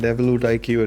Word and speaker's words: EvoluteIQ: Did I pronounce that correctly? That's right. Evolute IQ it is.